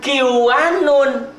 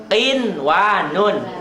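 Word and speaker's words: قنوان: Bukan kiwanun. Itu toh nun mati ketemu kan idgham. Jadi dibacanya kiwanun, bukan, tetap kinwanun. Kin, n-nya jelas.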